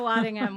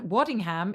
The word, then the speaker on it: Waddingham: pronouncing your name correctly as a british person would i americans we hit the like wadding ham i'm assuming you know what i don't mind the thing that i love about americans you always check in about how it's pronounced and waddingham is just great or waddingham is is